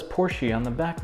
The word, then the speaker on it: Porsche: Come on, I'm just kidding, I know it's pronounced Porsche. I know it's not Porsche, come on.